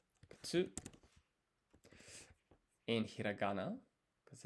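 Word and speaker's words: くつ: The U in ku is silent. Kutsu.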